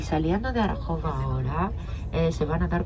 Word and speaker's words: Arachova: Estamos en el pueblo llamado Arajova, Arajova, lo pronunciarían ustedes.